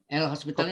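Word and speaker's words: L'Hôpital: Ya, hospital. Nggak pakai S ya. Kalau pakai S rumah sakit nih. Ini O-nya pakai topi. Ya, host bacanya kan. Hospital. Tapi nada S-nya ke topi ya. Ini kan orang Perancis nih.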